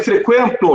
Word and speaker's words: frequento: Vê, frequento, não tem mais o trema. Mas a gente tem que saber que o U é pronunciado.